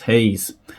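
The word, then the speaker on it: Gouws: flight leftenant Johan as Hayes I believe that Hayes is the correct pronunciation I don't speak Africans but Hayes is actually spelled g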